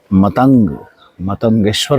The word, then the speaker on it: मतंगेश्वर: मैंने गलत प्रोनाउंसिएशन किया, मतंगेश्वर महादेव है यहाँ पर ये।